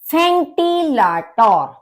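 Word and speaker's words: Ventilator: फेंटिलाटोर। फेंटिलाटोर यानी कि फैन, पंखा, क्योंकि जर्मन में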